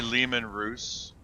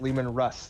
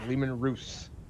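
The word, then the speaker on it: Leman Russ: that stupidly armored troop transport did you say lehman roose yes it's not pronounced lehman russ that is not what german says it is it is lehman ruse well i'm not german everyone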